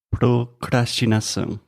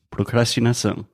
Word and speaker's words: procrastinação: Minha pronúncia está certa? Perfeito. Procrastinar. Isso. E procrastinação. Exato. Um pouco mais difícil. Procrastinação.